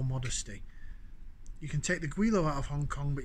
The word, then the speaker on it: Gweilo: with stand by caller uh guilo pronounced quailo cantonese term meaning ghost chap number two cantonese